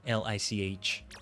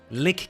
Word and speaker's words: Lich: L I C H. Lich. I just keep thinking of Wrath of the Lich King. Lick King is not how I say it.